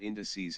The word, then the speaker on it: indices: not English class, but indices has stress on the first syllable.